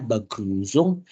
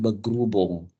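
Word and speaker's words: Begrüßung: kita belajar tentang beguzung jadi bacanya beguzung bukan begubung n f itu salah Tapi bacanya begusung Ya oke so Coba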